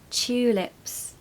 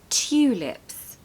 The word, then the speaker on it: tulips: you this word because the pronunciation is not two lips really I mean maybe some people might say it like that but what you'll mostly hear is cha it's more of a CH sound so chew lips chew lips in Britain the Tulips